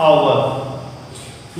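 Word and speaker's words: hour: यहाँ पे हम लोग क्या करते हैं, जब एच का उच्चारण हो, जब एच का उच्चारण स्वर के रूप में आ होता है तो आर्टिकल एन का प्रयोग करते हैं।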